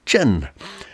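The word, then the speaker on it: 辰: The year of the dragon is associated with the earthly branch symbol, which is pronounced Chen.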